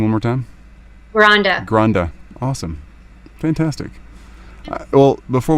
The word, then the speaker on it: Granda: So my first name is, and last name is Granda.